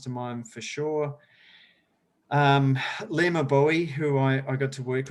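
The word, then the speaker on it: Gbowee: Right, and her name is spelled very different. So if you're trying to look up Lema Bowie, and I'm a terrible speller, it starts with her last name Bowie starts with a G.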